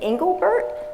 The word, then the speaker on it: Engelbert: But I have to ask first, the way you, is it Engelbert? Yeah. Did I pronounce that correctly? That's correct. It sounded so much better coming out of your mouth, though.